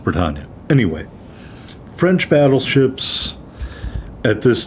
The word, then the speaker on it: Bretagne: No, it is not pronounced Brittany. It's Bretagne. Or if you're French, it's pronounced differently than that, but for an American saying a French word, it's pronounced Bretagne.